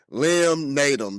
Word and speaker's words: Liam Naden: you have to let yourself off the hook Li naum did I pronounce that right man you sure did n